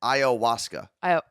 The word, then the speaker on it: ayahuasca: And Martha said it's ayahuasca. That's how it's pronounced, apparently.